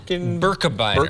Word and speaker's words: Birkebeiner: Birkebeiner.